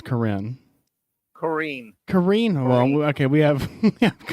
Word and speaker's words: Corrine: You're saying this lady's name like Korean. Her name is Corrine Brown. I know how to spell that. Corrine Brown. Corr. I don't think you say Corrine. Brown. I think that's Corinne.